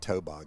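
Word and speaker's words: toboggan: your favorite the water tobogan except we pronounce it toen here in the South okay toag I barely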